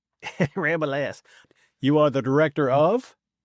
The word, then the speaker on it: Rabalais: It's Rabalais. The ass is silent, I say. One of those weird French names. It's not Rabelais. Rabalais.